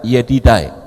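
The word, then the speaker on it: ידידי: Karena kata sahabat itu ditulis dengan kata yedidai, yod dalet yod, ya, tulisannya seperti itu, membacanya yedidai, yang kalau diterjemahkan di dalam bahasa Indonesia itu lebih tepat dengan sahabat kekasih yang begitu dekat sekali.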